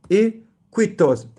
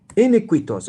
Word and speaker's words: iniquitous: Inquitus. Iniquitous. I have to go look up this quick and fast.